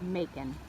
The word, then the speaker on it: Macon: georgia just south of macon fellow rvers this is the boondocker's welcome so they were able to make it rhymes with bacon oh my goodness sweetest